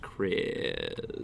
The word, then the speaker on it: Chris: His name's Chreez, but it's pronounced Chreez.